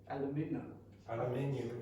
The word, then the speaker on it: aluminium: Aluminium Yeah. box. In the United States, they say aluminum. Okay, it's a bit weird, but we do have two different pronunciations.